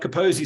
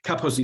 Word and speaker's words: Kaposi: for snobbishness the wait it's not caposi sarcoma but the emphasis is on the first level so it's capacity so you can always